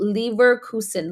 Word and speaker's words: Leverkusen: It's called Leverkusen.